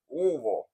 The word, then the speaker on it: Louisville: class breaking down UFC Louisville, or if you're a local, Louisville, because the less you pronounce of the word, the more accurate it is, from my understanding.